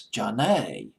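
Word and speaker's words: Zhané: names the French Spanish the French pronunciation of their two names which came out as John a Rene and Jean John a but instead of putting a J in front of it she put a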